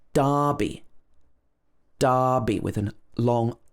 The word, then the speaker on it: Derby: confusing for americans because this is not pronounced derby like it's spelled it should be darby darby with an long